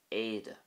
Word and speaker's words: éide: Also, the Irish word for uniform is éide, éide. And again, you can see how the E fada pretty much dominates the word, éide.